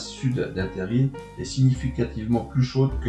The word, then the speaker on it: terril: Le terme se prononce terri et peut aussi s'écrire de cette façon.